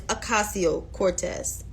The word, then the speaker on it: Ocasio-Cortez: Some people pronounce her name wrong, but it's Ocasio-Cortez.